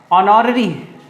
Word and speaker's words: honorary: लिए वर्ड है HONORARY, ऑनररी। इसमें H साइलेंट होता है, इसको पढ़ेंगे ऑनरेरी, तो इसके लिए वर्ड आया ऑनररी।